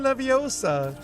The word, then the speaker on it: Leviosa: Yeah, Wingardium Leviosa. Stop. You're saying it wrong. It's Leviosa, not Leviosa.